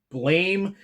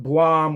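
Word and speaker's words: BLAME!: Uh, it is a series by the same creator who wrote Blame. I know that series isn't I know the title isn't pronounced the way it's spelled. I've heard people call it Blum or Blam.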